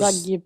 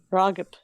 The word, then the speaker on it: Ragib: Ragib. Yeah. Ragib. They Ragib.